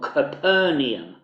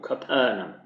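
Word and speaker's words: Capernaum: a place called capernum those of you you who who are familiar with the normal English pronunciation of this as profer in many churches across England it's this place that people often called capernium but it actually was called capernum this was one of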